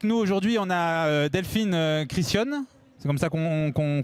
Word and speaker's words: Criscione: On a Delphine Christian. C'est comme ça qu'on prononce?